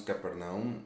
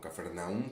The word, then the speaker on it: Capernaum: que se vuelven inclusive hasta estratégicas como es Capernaum o Cafarnaum, como quiera usted pronunciarlo, como es la misma Betania, ¿no?